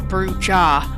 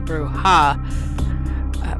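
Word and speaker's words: Brujah: CL here real quick brewha some may pronounce it bruja I say brewha bruha are passionate idealists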